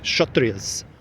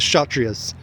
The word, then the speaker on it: Kshatriyas: The K is silent, I believe. Kshatriyas.